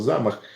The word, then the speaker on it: замах: сьогодні замах слово сказав Я кажу так мені там е-е наголос замах а потім мене пробило